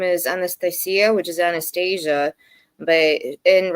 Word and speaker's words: Anastasia: So Anastasia would be na but there's a thing that you say in Russian which is the sound yah which a lot of people cannot pronounce. So they say nasty.